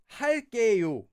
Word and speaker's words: 할게요: But a really common way to finish a sentence that uses this is 할게요. Notice that it's 게요, but it's pronounced as 게. 할게요. Due to sound change rules.